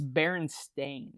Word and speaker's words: Berenstain: I thought it was EIN. Right, but it's Berenstain. It's AIN.